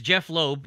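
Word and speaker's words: Jeph Loeb: So it's Jeff Loeb, and he's a Marvel executive, and it's spelled Jeph, because it can't just be Jeff.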